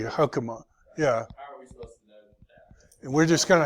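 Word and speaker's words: חָכְמָה: class comet's hatu but it looks exactly like comets but it's not yeah we don't say hakuma we say hukama yeah and we're just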